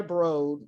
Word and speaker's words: Broad: so in 1998 eli brode rhymes with toad recruited jerry brown the